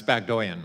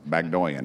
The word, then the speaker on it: Baghdoyan: It's Bagdoyan, Mr. Burchett. Well, you got my name right, so Bagdoyan.